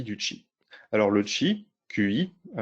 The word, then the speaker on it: Qi: Alors le Qi, QI, faut prononcer Qi, ça veut dire souffle en chinois, c'est le standard qui est utilisé par le Wireless Power Consortium.